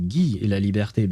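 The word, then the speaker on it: Guy Le Liberté: Oh, I suppose I would I should pronounce it G libert because libert sounds I mean it sounds French because it's just two French words liberte which means the freedom.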